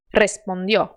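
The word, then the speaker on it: respondió: mas depois ele morre o r vibrante não foi feito para ser mantido por vários segundos ele foi feito para você pronunciar e pronto por isso quando você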